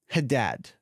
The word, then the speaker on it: Haddad: out of Connecticut and Cody Haddad that's how I'm going to pronounce attempt to pronounce that h a d d a d yeah yeah the kid